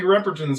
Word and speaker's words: Repperton: Buddy Repperton is it Ripperton or Repperton? Repperton. Okay, so I'm saying it right.